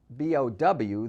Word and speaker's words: bough: We pronounce bow, B-O-W, the same as bow, B-O-U-G-H, and through, as in through the ball, the same as through, looking through the window.